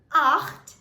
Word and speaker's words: acht: 8 in German is pronounced as acht. Acht. Now here, you would require to use a lot of throat work since Germans use a lot of their throat. So, it's acht.